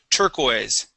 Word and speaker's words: turquoise: Very close with this pronunciation. It is turquoise.